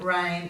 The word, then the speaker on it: reign: Our words today are nash, null, align, benign, consign, dane, reign, foreign, campaign and assignment. So in these words the G is silent and it usually comes before an N.